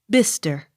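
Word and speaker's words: Bicester: s t e r bister accent on first syllable b l o u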